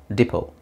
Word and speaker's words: depot: yes Depo diot Allah T is silent Depot okay the next word